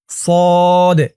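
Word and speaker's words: صاد: scene তাহলে সদ scene আপনারা অনেকে কিন্তু এমনটা বলেন যে সোয়াদ সোয়াদ উচ্চারণ করলে কিন্তু উচ্চারণটা সঠিক হয় না বলতে হবে সদ সদ সিন তারপরটা ধরুন দল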